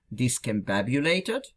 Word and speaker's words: discombobulated: It is read as discombobulated с ударением, with the emphasis, с ударением на, with the emphasis on ба. And then they say ударение